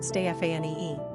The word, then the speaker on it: Stephany: It was the French who mainly popularized the female Stephany, pronounced Stéphanie.